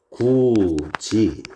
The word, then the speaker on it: 굳이: 나오는 해도지 이런 놈들입니다 자 발음이 구지 가치 해도지 이런 식으로 발음이 났죠 지금 보시게 되면 어